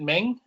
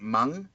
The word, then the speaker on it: Meng: Do you pronounce it Meng? Yeah, I think I'm wrong. Well, that's what we're wondering because I think the pronunciation is actually something like Mung.